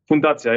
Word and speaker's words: Fundacja: Fundacja, yes. It's like foundation. Yeah.